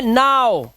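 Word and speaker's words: now: अब देखो यहाँ पर ओ डब्ल्यू का उच्चारण ओ होना चाहिए, लेकिन यहाँ ओ तो नहीं है, तो दिस इज नॉट, ये है नाउ।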